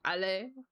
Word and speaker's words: Ale: It's Ale, but has the accent still. Like, Ale. Ale, Ale.